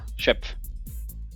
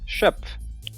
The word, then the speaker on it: Schöpf: Schöpf. Como? Schöpf.